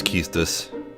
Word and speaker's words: Quistis: I know it's Keistus. I know it's Keistus, but until it's pronounced out loud in an English translated game, I'm just gonna keep saying Quistis, because who knows what they would actually do.